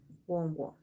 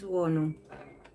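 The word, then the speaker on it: Wonwoo: Wongo. You mean pull cards now? Wongo. Wongo or Wongu? How are you pronouncing?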